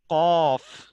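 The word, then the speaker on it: قاف: The next one is qaf. Qaf is a lahviya letter pronounced from the tongue and the soft pit.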